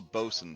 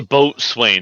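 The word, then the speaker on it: boatswain: The quartermaster is also called the bosen sometimes. Yeah. Or the first or the boat swain if you say it wrong.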